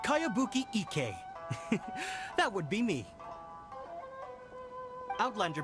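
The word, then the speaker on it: Kayabuki Ikku: Who's this Kawabunga? It's pronounced Kayabuki Ike.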